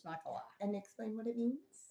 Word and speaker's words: Nachalah: A C H A L A H Nakala. Nakala. And it's sort of like Nakalot. If you want to learn, if you want to remember how to pronounce this Hebrew word, it's Nakala.